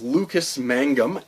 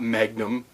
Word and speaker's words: Mangum: The next author is Lucas Mangum, and yes, I did pronounce that correctly. It's not Magnum.